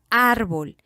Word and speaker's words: árbol: ejemplo en la palabra árbol en la palabra árbol la mayor fuerza de voz está en la primera sílaba la sílaba ar y ésta está tildada tiene acento ortográfico esta rayita que está